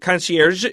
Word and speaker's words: concierge: Okay, I said it with an American pronunciation. In real French, it's more like concierge. Conc, but we say concier in English.